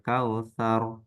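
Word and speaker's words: الكوثر: Nah, ro, itu dibacanya ar, tebal atau namanya itu tafkhim ya. Jadi kalau saya contohkan, inna a'toina kal kautsar sar sar.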